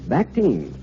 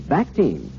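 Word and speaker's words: Bactine: odor there is one and its name is bacte let me spell that for you because i'm sure you'll want to remember to get it at your drugstore b-a-c-t-i-n-e bacte it's the newest development in the field of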